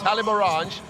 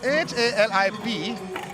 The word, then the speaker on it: Haliborange: Haliborange. You can't pronounce it Halib Orange. You could do that, but that is not what it is pronounced.